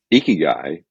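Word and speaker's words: ikigai: guy yeah yeah so ieki guy is a uh Japanese philosophy It's a combination word uh eki and Kai really and then through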